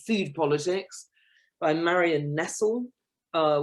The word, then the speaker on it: Nestle: food politics by marion nessl uh which is spelt like nestle but without the e on the end and she pointed out